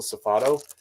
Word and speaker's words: Safado: saf safado is how you say it diesel safado these have always sold really well for me this is actually one of the most consistent Retail Arbitrage items that I've ever sold is diesel safados they've always got me over a hundred I've